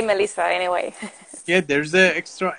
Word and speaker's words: Mhelyssa: pronounce your name correctly melissa right yes yes it's melissa it's just a fun way to spell it but we say melissa anyway yeah there's the